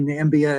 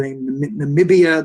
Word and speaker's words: Namibia: uh for uh where he talked about the country nambia and africa of course it was he was mistakenly pronouncing the namibia the name of a real country uh the personal name